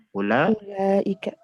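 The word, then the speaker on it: أولئك: Ulaika. Ulaika. Jadi secara penulisan dia ada waw setelah hamzah, tapi secara pengucapan tidak. Jadi bukan panjang, tapi pendek. Bukan ulaika, bukan, tapi ulaika langsung masuk ke huruf lam.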